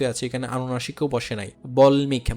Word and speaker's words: বাল্মীকি: বল্মিক বা বাল্মীকির রামায়ণ, হ্যাঁ, বাল্মীকি, ওইখানেও কি হয় না, দুইবার উচ্চারণ হয় না, উন্মুক্ত।